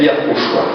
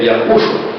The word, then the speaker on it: Yahushua: Shin e Ain, da qual a pronúncia é Yahushua. A pronúncia, a expressão vocálica, quando se lê esse nome, é Yahushua.